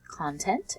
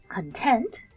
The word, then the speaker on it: content: So remember we can pronounce content as content to talk about being happy or content for things inside of something.